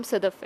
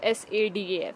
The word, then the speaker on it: Sadaf: जैसे समझ, मेरा नाम सदफ़ है, अगर आपको प्रोनाउंसिएशन में मसला आ रहा है तो SADAF, सदफ़, ठीक है।